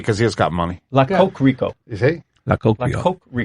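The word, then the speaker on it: Le Coq Rico: La Coque Rico.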